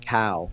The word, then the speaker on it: Cao: but anyway hung and how would you say it again cow would you say it that way yeah I yeah I would pronounce it cow yeah and it looks